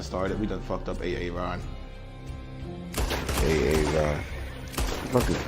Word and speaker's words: Aaron: It's like it's Key and Peele, and it's Aaron, and he goes, you done fucked up AA Ron.